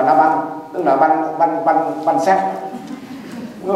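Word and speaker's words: Nabal: Mà hiện bà anh em, tôi thấy mấy ông cụ xưa mình dịch ra chữ N-A-B-A-L là nê bò đó, thì đọc là Na-banh, tức là banh xác.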